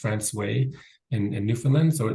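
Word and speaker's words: François: highlight France so it's it looks like Fran but it's pronounced franway in in New Finland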